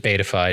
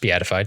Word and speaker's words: beatified: though Kinga passed away before 1300 she wasn't beatified until 1690 and yes I had a few people correct me that it wasn't bifi it's supposed to be pronounced beatified so thank you for that but yeah she